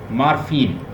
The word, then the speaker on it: morpheme: मॉर्फीम, पहले तो उसकी प्रोनाउंसिएशन ठीक कीजिए. मॉर्फीम, मॉर्फीम जो है, हाँ यस, जैसे मिनिमल, फा,